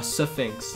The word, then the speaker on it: Sphinx: A Sphinx, yeah. I like to make that two syllables.